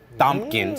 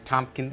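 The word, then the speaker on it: Thompkins: Jim Gordon and Leslie thumpkins is that you say her name Tompkins I think it's Tompkins yeah I'm gonna say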